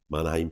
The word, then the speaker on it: Mannheim: 6 months ago the Manheim Manheim is how you pronounce it um Manheim attacks where